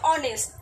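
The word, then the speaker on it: honest: প্রোনাউন্সিয়েশনটা দেখো, আমরা বলছি কিন্তু আওয়ার, কিন্তু আমরা কি বলছি হাওয়ার, হনেস্ট বলছি কি, এইচের কি আমরা প্রোনাউন্সিয়েশন আদৌ করছি না, ও তো সাইলেন্ট, ঠিক আছে। তো এবার আমরা বলছি অনেস্ট, তো আমাদের সাউন্ডটা ও দিয়ে আসছে, অনেস্ট আসছে, আওয়ার আসছে,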